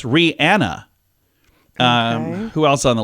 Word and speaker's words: Rihanna: how she says it how about Rihanna no it's Rihanna um who else on